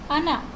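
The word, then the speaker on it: она: Stress को कैसे हमारा, जैसे है अना, अना, ओ एन आ, इसमें जो स्ट्रेस साइन है वो आ के ऊपर है, तो इसे हम अना प्रोनाउंस करेंगे, ना कि ओना। ओना नहीं प्रोनाउंस होगा।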